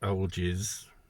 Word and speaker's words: Algiz: But obviously the rune is pronounced Algiz. I think I'm going to have to call it Algiz.